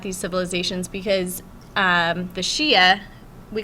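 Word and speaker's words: Xia: Age was with the Shia Dynasty um that's x i a is pronounced Shia and that was 2200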